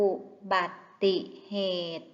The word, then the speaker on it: อุบัติเหตุ: ว่า ท่อง สูตร คูณ อุบัติเหตุ อ่าน ว่า อุ อุบัตติเหตุ เด็ก ๆ คะ คำ